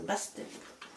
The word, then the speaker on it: Bastet: Ça se prononce comme ça, Bastet.